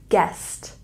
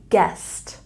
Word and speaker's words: guest: old and this here we pronounce without the u sound guest guest guest I want you